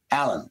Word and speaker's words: Alleyne: very good and is what's the correct pronunciation of your last name is Allen or Elaine Alan Alan okay okay what's the